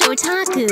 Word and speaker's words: otaku: Well, that's pronounced otaku.